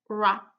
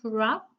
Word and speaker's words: wrap: So I'll just give you a few more seconds to tell me which letter is silent in each of the words, okay?